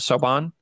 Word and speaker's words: Siobhan: so sorry one more time how do you pronounce that saubon siobhan siobhan is an orange yeah so what she says